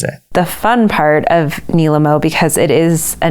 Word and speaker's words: Nilemo: medium so hopefully by now you know it's pronounced Nimo or at least that's the way Alyssa pronounces it the fun part of Nimo because it is a name that everyone pronounces